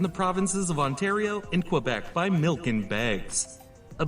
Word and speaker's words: Quebec: In the province of Quebec, which is pronounced Quebec, that number is close to 80%.